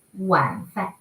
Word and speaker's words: 晚饭: 晚饭 they could pronounce like 晚饭 they could pronounce like this, but the standard is W totally equals U, so it should be 晚饭 okay?